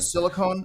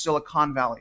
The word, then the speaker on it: Silicon Valley: right to call it silicone uh Valley uh okay roboty right silicone we'll just we'll just say silicone but just just so you guys know it is pronounced Silicon Valley right like con artists we go we go